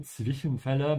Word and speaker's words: Zwischenfälle: Ja, ohne Zwischenfälle, make sure to pronounce that T of the Z.